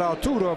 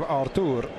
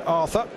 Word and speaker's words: Arthur: We've had Arturo Vidal, now we're going to have Artur. Rather than the English pronunciation, Arthur. Having heard the Brazilian midfielder interviewed, he certainly does pronounce it Artur.